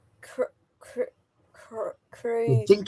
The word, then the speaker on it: Kolding: Kolding. Kolding? Yeah. So, the I is a oi? It's like a o Yeah, like a o.